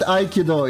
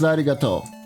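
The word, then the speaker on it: ありがとう: Not Aikido, it's arigato.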